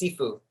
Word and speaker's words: Sifu: A Sifu of Southern Chinese Tai Chi. It's Sifu.